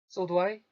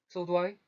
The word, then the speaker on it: so do I: 이러면 이 드 발음이 원래는 드 발음이 나야 되는데 이게 어떻게 변화가 하는가 하면 르 발음까지 갑니다. 드가 르로 바뀌어요.